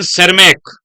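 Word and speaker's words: Tschermak: तीन मैंने नाम बताए एरिक वन सर्मक बोलते हैं टी एस सी एच ई आर एमसी नाम होता है वैसे टी से शुरुआत होती है बट साइलेंट होता है एरिक वन सेरमक कहां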